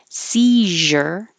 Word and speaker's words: seizure: park behind the building seizure and Caesar so neither of these are spelled like they sound this Z is actually a so if you have